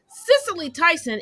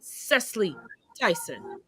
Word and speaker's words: Cicely Tyson: is actually denzel washington cicely tyson is actually cecily tyson she said it on